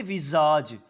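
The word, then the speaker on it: visage: हुई डिस्ट्रक्टेड विजज या इसको हम पढ़ेंगे विजज क्योंकि आई के साथ जब एस लगता है तो जड को प्रोनाउंस करता है विजज लाइज हुज फ्रान अब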